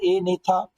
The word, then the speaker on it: Agnatha: उसे कहा जाता है ए नेता और जो दूसरी क्लास उसे कहा जाता है नेता स्टोमाटा इसमें जो बेटा जी है ना ये दोनों के अंदर साइलेंट है अच्छा अगर हम इसको